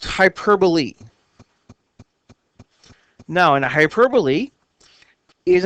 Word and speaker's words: hyperbole: sounds different it looks like it should be pronounced hyperb it's actually pronounced hyperbole now in a hyperbole is an intended exaggeration